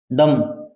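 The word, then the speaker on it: dumb: B silent रहता है। जैसे डी यू एम बी, डम, गूंगा होता है ना।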